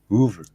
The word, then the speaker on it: Hoover: If that's how you say hover, how do you say Hoover? Hoover. Hoover. Is it really? Is it a big difference?